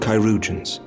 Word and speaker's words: Chirurgeons: She will be attended by our most skilled Chirurgeons.